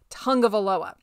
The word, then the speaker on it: Tagovailoa: the Miami media, but you pronounce it Tagovailoa. That's how you say it. I guess it's a Hawaiian thing.